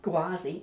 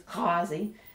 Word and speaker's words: Ghawazi: like the fleet ah it's like in the back of the throat it's not a G I will attempt to pronounce these words quickly but you'll probably find I slip into what most people say from time to time so it's not gwazi it's Kazi and um I've got